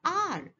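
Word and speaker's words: hour: the correct pronunciation for this word is r because h is a silent letter in this word the second one honor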